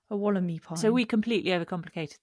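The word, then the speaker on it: Wollemi: reliably informs us that I was pronouncing that rare pine wrong. So I think we were calling it a Walliemii pine or something like that. Apparently it's like wallaby, so it's Wallamy. It's a Wallamy pine.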